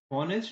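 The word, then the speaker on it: honest: है एक ईमानदार आदमी क्योंकि बोलते समय हम ऑनेस्ट नहीं बोल रहे ऑनेस्ट बोल रहे हैं तो एच जो है वो साइलेंट है इस वजह से एन लगेगा अब यहां पर कुछ प्रैक्टिस के सेंटेंसेस हैं।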